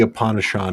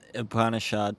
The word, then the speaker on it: Upanishad: No, uh, I think the Upanishad is the correct way to pronounce that. yeah, or at least it's the correct way to mess it up in English.